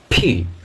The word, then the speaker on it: P: পি, পি, কিন্তু পি নয়, ফি, ফি, ফি। এই যে শ্বাস বায়ুটা, শ্বাস বায়ুটা জোরে ছাড়ে, জোরে মুখ থেকে বেরিয়ে আসলো, ফি, ফি, ফি, ফি।